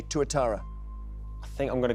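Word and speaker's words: tuatara: Um, could you spell it? Yes, it is just one word. T U A T A R A. Touittara.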